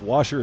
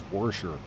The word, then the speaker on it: washer: Ask all the people that pronounce washer as worsher. Yeah, that's anywhere south of. That's anywhere that's like Missouri and south. You add an R. You go from aw to or. So it's not wash, it's warsh.